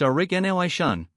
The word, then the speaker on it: Aurignacian: The objects come from the Aurignacian, pronounced Aurignacian, a cultural period associated with early modern humans in Europe.